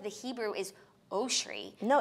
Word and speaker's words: Oshry: Ariana Grande it's like if the whole world call me Jackie oshri I actually wouldn't correct them because that's actually the right pronunciation right pronunciation because our